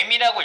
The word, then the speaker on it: em: 그러면 이거 읽을 때 M이라고 읽거든요.